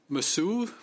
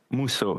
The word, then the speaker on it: Mousseau: Masou. Please forgive me if I mispronounce any of your names, and correct me if you so choose. Mr. Masou. Mousseau, that's Mousseau, thank you.